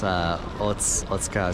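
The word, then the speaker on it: 大塚: So I was asking my cousin, and I guess that the U's aren't exactly silent. They're just not as fully pronounced as the other letters sometimes in words in Japanese.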